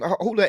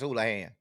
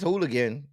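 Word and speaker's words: Houlahan: Every time I've heard it pronounced, it's Houlihan. Now if it's Hooligan, maybe it is, but it's there's not even a G in there. But every time I've heard her pronounce it, she says Houlihan.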